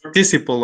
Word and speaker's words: participle: For example, you wrote, or you were using the word participio when participio is a word in Spanish. It was in your presentation. And in English, we say participle, okay?